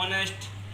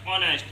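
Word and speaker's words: honest: कैसे, अब यहाँ देख लेते हैं, हाउस, एक आता है ऑनेस्ट, यहाँ पे क्यों एन क्यों लगाते हैं, क्योंकि इसका प्रोनाउंसिएशन ऐसे नहीं होता, ओ से होता है, तो क्या ऑनेस्ट, ये हॉनेस्ट नहीं होता, ऑनेस्ट।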